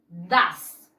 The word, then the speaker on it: does: No es do, es das. Excellent. Se escribe does, se pronuncia das.